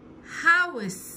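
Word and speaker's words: house: منزل هاوس، الاتش ها ها صوت حرف اله، والاو مع اليو كاني بقول او.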